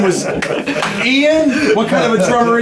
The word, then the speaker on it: Ian: It's pronounced, not Ian. It's Ian.